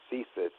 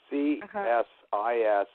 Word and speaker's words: CSIS: Yeah, they call it CSIS. CSIS. And my partner in the production company, Lionsgate, his father had apparently run CSIS.